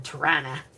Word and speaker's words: Toronto: So, I called myself a western girl, even though I was born in Torana. That's how you say it properly, in Toronto.